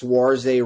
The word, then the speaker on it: Saoirse: And the best name in showbiz, Saoirse Ronan. Did I pronounce that right?